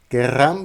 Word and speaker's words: querrán: Ici, ce que je fais c'est le verbe querer, j'ai enlevé la lettre e et comme en espagnol s'il y a deux r, nous devons prononcer avec la prononciation r r.